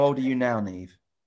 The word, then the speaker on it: Niamh: Because it's spelt very differently in England to how it's pronounced, isn't it?